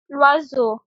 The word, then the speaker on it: l'oiseau: So we put L apostrophe and we have to remember join the sound of these. The pronunciation becomes l'oiseau.